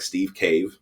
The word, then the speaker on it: Steve Cave: My name is Steve Cave. Uh it's pronounced like Steve Cave, like a hole in a mountain.